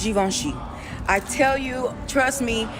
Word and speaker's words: Givenchy: So it's pronounced Givenchy.